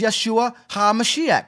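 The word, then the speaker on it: ישוע המשיח: Drop His name was Yeshua HaMashiach. That's how you say his name in the Syriac.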